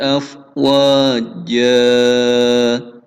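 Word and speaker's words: أفواجا: Mad iwad yaitu ketika ada tanwin di akhir kalimat, ya, maka tanwinnya hilang menjadi fathah panjang. Afwaja, bacanya seperti itu. Ya, jadi bukan afwajan tapi afwaja. Tanwinnya menjadi hilang diganti dengan fathah panjang.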